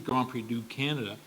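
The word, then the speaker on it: Grand Prix du Canada: it's not French and in French it's it would be grand PRI to Canada I think Grand PRI to Canada players but but it should be grand PRI do Canada and in English they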